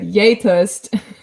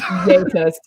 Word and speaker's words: gjetost: all the time, but Yetost. What did you just say? Yetost. It's so Norwegian. It's spelled GJETOST.